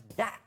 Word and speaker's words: Dacia: ads they've been doing they keep referring to themselves as daa no I think that's because that's how you say it in Romania where it's Builders he